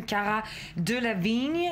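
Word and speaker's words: Cara Delevingne: franchement manqué de professionnalisme Cara de la vigne il faut le prononcer avec l'accent anglais effectivement comme vous l'avez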